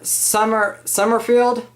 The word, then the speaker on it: Sommerfield: Sommerfield? Did I say it right? Yep.